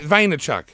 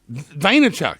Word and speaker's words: Vaynerchuk: head to Gary no how do you pronounce his name Gary very try very labored Chuck no try again there Chuck nope guy on vide the Chuck nope great Vaynerchuk nailed it Vaynerchuk Boehner Chuck it's an